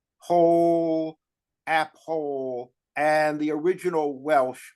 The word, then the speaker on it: Powell: originally app hoo and you have to think of like Old King Cole pole Appo and the original